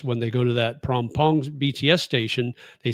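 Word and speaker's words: Phrom Phong: The h is silent. So it's the p. So phr is prom, not from. So like pom pong.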